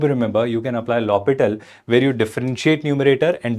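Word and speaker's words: L'Hôpital: He was lital where H was silent. So this is not L hospital. This H is silent there.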